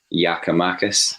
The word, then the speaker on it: Giakoumakis: sort of campaigning for Giakoumakis, is that the right pronunciation? Apparently so.